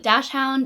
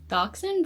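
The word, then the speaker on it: Dachshund: Dashhound, Dachshun. I feel like the right way to say it is Dachshun, but I always say Dashhound.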